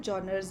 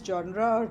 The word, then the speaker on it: genre: know it in this this pronunciation of the world genre this is John Ross journals so this is it is not genre's that is wrong pronunciation genres of film do